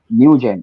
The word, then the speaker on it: Nugent: Nugent, Akira Nugent.